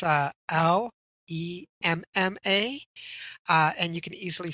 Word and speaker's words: Lemma: that um i got to meet uh lemma did i pronounce it right yes yes and it's uh just for the audience it's uh l e m m a uh and you can easily find me on